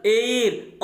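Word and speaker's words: heir: तो आप ये देख सकते हो स्टूडेंट, ये सभी वर्ड यानी इनमें जो यच है ये म्यूट होता है, ये साइलेंट होता है।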